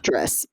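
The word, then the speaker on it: Drys: And he calls himself Driss. Okay. Right, okay. But they spell it D-R-Y-S, which also is, I think, nice because there are dryads involved.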